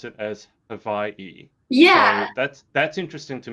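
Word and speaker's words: Hawaiʻi: to pronounce it is hawaii because in the hawaiian alphabet w's are pronounced in the v sound and so vi for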